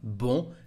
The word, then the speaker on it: bon: Because of the letter E, the vowel we have just after, you can hear that the pronunciation of bon is different. Au bon endroit. It's like the pronunciation of the feminine form. La télé est au bon endroit. The reason is the vowel and the liaison between the two words.